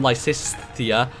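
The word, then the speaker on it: Lysithea: like s the ongoing inability for me to pronounce the name lisia because I just add an extra s to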